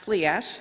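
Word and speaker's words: Flidais: of my Patron goddess fadas or pronounced fleash sorry in olster dialect the protector of the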